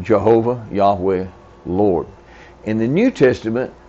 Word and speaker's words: Yahweh: And in Hebrew, it's pronounced something like Yahweh. Have you heard that? Yahweh.